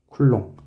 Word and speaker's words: 쿨롱: 전하의 기호는 Q로 쓰고 단위는 쿨롱이라고 읽어요. 쿨롱.